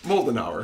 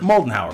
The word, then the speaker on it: Moldenhauer: I want to know how you pronounce it mold an hour molten hour much like moldenhauer like the melting hour ooh it's for a